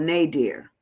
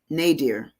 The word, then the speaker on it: nadir: first looked it up I wanted to spell it n-a-d-e-a-r like my dear because I you know that that was just I had a a friend here that's what we called it was my dear and then I I